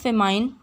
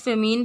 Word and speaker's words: famine: सबसे पहला है व्हाट इज़ फेमाइन। इसकी प्रोनाउंसिएशन दोनों तरह से हो सकती है। व्हाट इज़ फेमीन भी, इसको फेमीन भी कुछ कहते हैं और कुछ फेमाइन भी कहते हैं, जो माल न्यूट्रिशन का मेजर कॉज है।